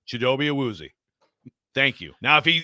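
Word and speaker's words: Chidobe Awuzie: English chidobe azi yeah how do you say it in your language CH he was like yeah so if you're gonna say it in English which you speak the way you say his name is chidobe aozi thank you now if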